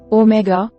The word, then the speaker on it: omega: Omega, pronounced the same as omicron.